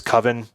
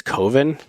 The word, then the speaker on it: Coven: Another debatable in terms of useful for our formats is Coven. Excuse me. I think it's Coven. Why would they pronounce it like oven?